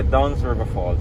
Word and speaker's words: Dunn's River Falls: Like now how do you pronounce it? Dunn's River Falls? Yeah, Dunn's River Falls, yeah.